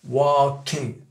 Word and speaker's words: walking: Alors, les Américains, ils s'emmerdent même pas à prononcer le G. Hein. C'est walking. C'est souvent d'ailleurs les trucs qui se terminent en une ing. Souvent, ils prononcent pas le G.